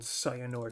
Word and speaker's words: Sayannor: It's called Sayannor Village. How did I come up with this name? I don't know. Oh yeah, yeah. It's basically Saiyan from Dragon Ball Z with an extra syllable on the end.